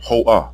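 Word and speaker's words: היא: third person singular pronoun hoah which means she in English the vowel letter ah is heard at the end because the word is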